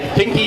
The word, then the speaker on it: Kinki: a famous university called Kindai University. Kindai was the first research. Not today. The Kinki University, as it's more correctly pronounced, has been a leader in fish farming for over 40 years.